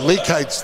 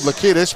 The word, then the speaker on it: Leakites: Or Leakites, they pronounce it here. I was told Lakidis, but Leakites with his 4th foul.